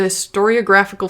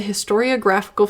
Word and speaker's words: historiographical: contention transposed into the storyographical field subconscious that's a huge say that again transpose and you're just gonna you just want me to mispronounce it I said it right uh transposed into the historiographical field subconscious fears became